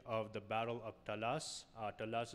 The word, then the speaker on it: Taraz: Talas is a place that is now, or sometimes pronounced in some transliterations, is pronounced Taraz in Kazakhstan.